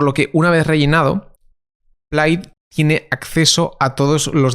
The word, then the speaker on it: Plaid: Plaid, que se pronuncia Plaid realmente, es el software que